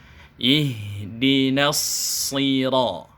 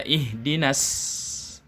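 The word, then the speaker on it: اهدنا الصراط: Ihdinas sira. Kemudian kesalahan berikutnya adalah cara masuk na ke shad. Ini banyak sekali yang membacanya tidak tebal sehingga dibaca ihdinas. Shadnya persis dibaca seperti huruf sin, maka ini kesalahan.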